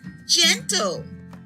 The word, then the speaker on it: gentle: Here, the G is followed by an E. The G here is a soft G. This word is gentle.